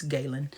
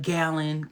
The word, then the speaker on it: Galen: and have a resident Galen pronounced like Galen. That's how I say my name, Galen. It's Galen. And people will be like Gallon, Glenn. And I'm like, help me understand how you took an A completely out of my name.